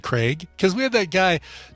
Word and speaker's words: Craig: pronouncing charlize theron from craig i have a request can you and the rest of america please pronounce craig properly it is craig not craig thank you the rest